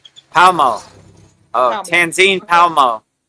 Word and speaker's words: Palmo: So it's Tanzine Palmo. So Palamo. Is that what I said or we I guess it's no pala. It's just palmo. Palmo. Palmo.